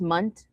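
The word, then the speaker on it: Mundt: Mandela effect is super, it's pronounced Munt.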